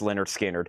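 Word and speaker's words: Lynyrd Skynyrd: And I also have Leonard Skard, pronounced Leonard Skinnard.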